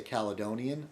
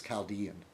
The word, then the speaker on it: Chaldean: A lot of Americans say Caledonian. I think it's Chaldean, which is basically a Christian.